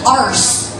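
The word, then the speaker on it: Arce: My last name is Arse. It's spelled out A-R-C-E. And before, like, anytime I have a comedy show now, the people that are hosting are always like, how do you say your last name? Because they don't want to say it how they think it sounds. I'm like, Arse.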